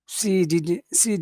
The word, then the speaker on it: didn't: Okay, in North America, we don't like to pronounce T's at the end of words, so I'm saying Yes. Yeah. didn't, didn't. She didn't wanna. So that n is very important because it's the only way that I know that it's negative. So it's important that you pronounce that n clearly.